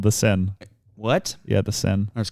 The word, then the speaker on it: Seine: It's called the Seine. What? Yeah, the Seine. That's crazy. But it's spelled like Seine.